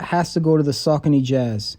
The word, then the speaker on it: Saucony: to go to the saucony jazz here in the us we usually pronounce it sakani but i've learned the correct pronunciation is saucony another super old runner